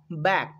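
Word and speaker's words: back: বি এ সি কে, এখানে একটু লক্ষ্য করো, বি এ এর পরে আমরা সি কে বর্ণ খুঁজে পাচ্ছি, সেই জন্য আমরা বি এ এর উচ্চারণ করব ব্যা, আর সি কেতে ক, ব্যাক, মানে পিছন।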